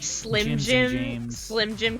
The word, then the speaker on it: Slim Jim: so like Slim Jims and Jim. James. Slim Jim could have gymdis. Slim Jim could have jaundice, yeah. Slime. Whenever I was in high school, I would always pronounce it slime jime.